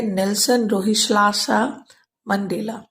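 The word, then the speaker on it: Nelson Rolihlahla Mandela: नेल्सन रोहिलाला मंडेला पढ़ेंगे, पर दरअसल इनके नाम का उच्चारण होता है नेल्सन रोहिलाला मंडेला।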